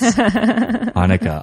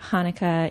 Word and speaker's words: Hanukkah: ways of pronouncing Hanukkah the first H is actually in Hebrew the letter het which is a little bit more throaty it comes from the